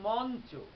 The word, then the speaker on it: মঞ্চ: যেমন মঞ্চ, এই শব্দটি যদি দেখি, তাহলে উচ্চারণ করে কি আমরা লিখছি ম ইউ চ যুক্ত, কিন্তু উচ্চারণ করি ম নয় হসন্ত চয়কার, মঞ্চ। অর্থাৎ কিনা ইউটি দন্তন্য হয়ে গেল, মঞ্চ।